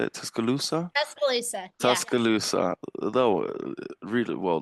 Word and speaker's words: Tuscaloosa: Tuscaloosa.